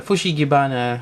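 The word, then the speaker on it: フシギバナ: And I got my Venusaur, or also known as the Fushigibana. I think that's how it's pronounced in Japanese.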